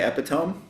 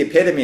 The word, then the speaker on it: epitome: It's spelled it looks like you would say epiome. Yes. We were walking. We're on this date that I said something like that's the epitome of this.